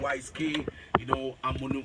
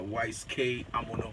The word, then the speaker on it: Wise K Amono: So this morning I'm in the studio with the Wise K. Amono. Is that the right pronunciation of your name? Yes, Wise K Amono. Yes, That's the right pronunciation, right? Yes, Okay, great.